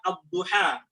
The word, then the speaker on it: الضحى: وبدل بدلا منها ألفا، فاكتبها ياء لكن انطقها ألفا. Barakallahu fiik. Kemudian contoh yang lain pada huruf ya. Ada firman Allah yaitu pada kata ad-duha.